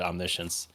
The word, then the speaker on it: omniscience: how do you even you spell it's exactly like saying omnis science even though it's said omniscience it's a good way